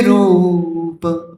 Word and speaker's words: रूप: है, धृत नर हरि रूप, रू लंबा है इसलिए मैंने रू को लंबा खींच लिया, ठीक है।